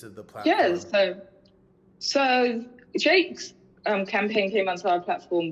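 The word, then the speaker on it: JVKE: I think his name, I don't know how to say it, it's like JVK. Is it Jake? It's Jake. It's Jake.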